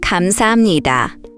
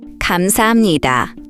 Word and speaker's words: 감사합니다: That's why we say 감사합니다, 감사합니다.